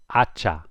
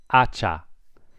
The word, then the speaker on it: hacha: Hacha. Remember the H is silent. Hacha.